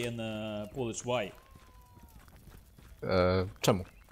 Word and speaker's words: czemu: “Czemu.” Czemu.